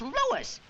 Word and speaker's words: Louis: Me is Lois, not Lois. Chief WZ. Everybody interpolates me name wrong. It's Lois.